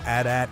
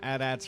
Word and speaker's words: AT-AT: I was calling them AT-ATs from the beginning because I didn't know there was another way of calling them, and it's 2 syllables versus 4, and I'm all about energy conservation.